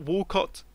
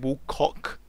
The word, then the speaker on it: Walcott: Alright, so we got Walcott. And I know I've been pronouncing his name Walcock.